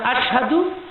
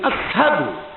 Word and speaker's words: আশহাদু: তুমি তো শিন উচ্চারণ করতারো না, শব্দটা আশহাদু, তিনি বলতেন আসহাদু।